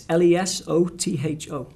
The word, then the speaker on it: Lesotho: Yeah, it's Lesotho. Okay, because I think I would pronounce it differently, and I want people to make sure that a lot of people say Lesotho or Lesotho.